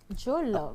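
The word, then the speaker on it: Joelove: plus, vous pouvez aller sur ma chaîne YouTube, Jolof, et là, vous aurez un peu les détails de l'histoire. Comment ça s'écrit le nom, c'est J-O-E-L-O-V-E. Jolof.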